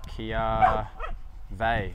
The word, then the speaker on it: kiawe: Oh yeah, lots of the kiawi wood? Say kiawe. Oh right. Kiawe. Right. Kiawe wood.